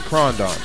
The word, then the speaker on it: Krondon: I don't know how to pronounce his name. Is it Krondon?